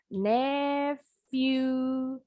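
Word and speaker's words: nephew: keponakan laki-laki bahasa Inggrisnya need you PH bunyinya F jangan lupa review itu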